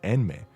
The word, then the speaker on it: Enmei: Siu, Angel, Ji, Angel, and Angel Maker, Enmei. As in the N syllable, angel.